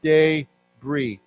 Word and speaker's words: debris: we've talked about before is not pronounced there's no s because it's a French word so we say debris okay like b-r-e-e why don't we say together debris debris okay I guess some people say debris debris or debris I think you can say it either way okay so that this